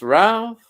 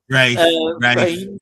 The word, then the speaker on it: Ralph: Talking of Ralph, pronounced Ralph. Rafe.